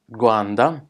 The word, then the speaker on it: Rwanda: Rwanda's which is pronounces guan de is officially known as